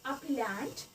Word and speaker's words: appellant: The correct pronunciation of this word is appellant, and its meaning is the party appealing a decision or a judgment to a higher court.